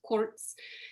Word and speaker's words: Kurc: So from Addie Kirk to Eddie Kurtz, and in Polish, Kurc, which we pronounce Kirk here in the States, is pronounced Kurtz.